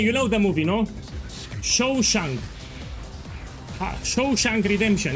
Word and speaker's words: Shawshank: It's called Shamhaug Redemption. I don't know if you know the movie. The dance of death. It was a good movie. I hope I pronounce it correctly, yeah? Shamshak Redemption.